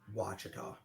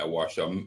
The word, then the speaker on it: Ouachita: Ouachita. Yeah, Ouachita.